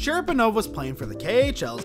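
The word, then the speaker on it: Cherepanov: hockey history number six death of alexi sheriff pronounced sharaponov was playing for the khl's and the guard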